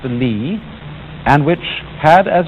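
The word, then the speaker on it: 理: you remember this word which is pronounced lee and which had as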